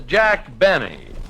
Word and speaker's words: Jack Benny: another fell doctor no this is Jack Benny rhymes with Penny if he can arrange